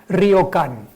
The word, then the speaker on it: ryokan: nombre en japonés es ryokan. Otra palabra fácil de pronunciar, ryokan, si quieren ustedes, no hagan tan digan ryokan, pero bueno, ryokan se entiende, las vocales españolas y las japonesas son idénticas.